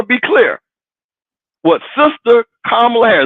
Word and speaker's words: Kamala: be clear what sister kamla har let's pronounce her name is kamla not Kamala kamla Harris Howard University said